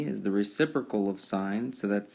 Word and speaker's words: sine: hypotenuse is called sine it's spelled abbreviated SI n but it's pronounced sine spelled si n e